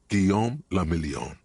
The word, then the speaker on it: Guillaume Le Million: meant only one thing guillaume lamillion if it doesn't rhyme you're not pronouncing it right out of the dazzling